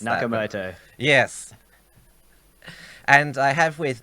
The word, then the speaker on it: Nakamoto: under the pseudonym as Satoshi nematode and you mispronounced nakamoto yes and I have